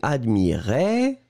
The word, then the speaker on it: admirait: attention encore une fois on va prononcer les deux je regarde oui le premier admirait qui monte et le deuxième admire et qui descend d'accord admirait admirer vous